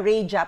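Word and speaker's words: raja: room yung Tinatawag nilang sabi nila rja Pero tayo ang pronunciation natin na raha room you remember that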